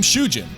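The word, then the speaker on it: 囚人: Although written differently, the name Shujin is almost phonetically identical to the Japanese word for prisoner, Shujin.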